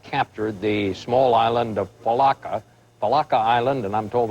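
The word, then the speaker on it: Failaka: Allied forces have captured the small island of Palaka Palaka Island. And I'm told that's how you how do you say it out in that part of the world, General Falaka.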